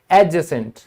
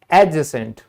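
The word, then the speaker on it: adjacent: इसी तरह एडजेसेंट, एडजेसेंट।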